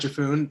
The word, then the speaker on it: Giffune: So I'm Giffune. That's how you say it.